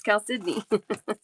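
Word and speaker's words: chalcedony: Because it's spelled Chaledoni, but it's Cal Sydney.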